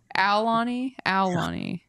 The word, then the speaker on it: Aulani: Like I'm supposed to make sure the U is in there? Ow. Ow. Ow. Like you're stepping on a Lego. Aulani.